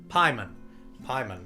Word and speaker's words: Pyman: Pyman, not Payman.